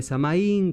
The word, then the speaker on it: Samhain: Y vamos a hablar un poco de Samhain, que se escribe Samaín, que es la pronunciación gaélica de esta festividad celta que da origen a la fiesta de Halloween.